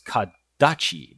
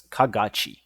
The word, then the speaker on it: Kagachi: Now, Kadachi, uh, correction on my pronunciation, I thought it was Kadachi before, but it's Kagachi.